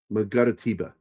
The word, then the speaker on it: Mangaratiba: It's Mangara and then Tiba. Mangaratiba.